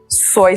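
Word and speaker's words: Suay: It's called Soy So Shop. Let me spell it, S-U-A-Y, in case I'm not saying it right.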